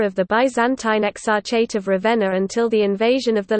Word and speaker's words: Ravenna: Ravenna, Italian pronunciation, Ravenna, also locally Ravenna, listen, Romagnol, Ravenna, is the capital city of the province of Ravenna, in the Emilia-Romagna region of northern Italy.